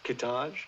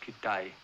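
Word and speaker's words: Kitaj: There's Hedgepath, Kittage. No, it's pronounced Kitay.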